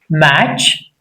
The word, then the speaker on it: match: T is not pronounced before CH. What are the examples? Match, MATCH.